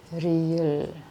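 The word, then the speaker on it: 리을: 4, riel, riul ya, R. Contoh suaranya ya R, rungi, R. Nah, ini R ya. Nah, tapi ini R kadang-kadang juga bisa dibaca atau dibacanya L ya, L. Tapi nanti ini ada peraturan khusus kapan berubah jadi L. Oke, ini ada khususnya nih. 5, miem.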